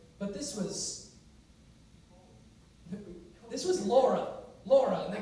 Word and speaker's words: Laura: This is Penelope, but they pronounce it Penelope. Who is this? Rolla, but this was Laura, and they call her Rolla.